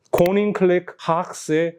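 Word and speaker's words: Koninklijke Haagsche: 코닝클렉 하악세 호프 앤 컨트리 클럽이라고 읽더라고요.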